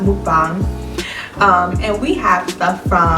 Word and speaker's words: mukbang: A lot of people say mukbang, but it's pronounced mukbang.